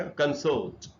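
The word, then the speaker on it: consort: तब इसका प्रोनाउंसिएशन थोड़ा सा बदल के हो जाएगा कंसोर्ट।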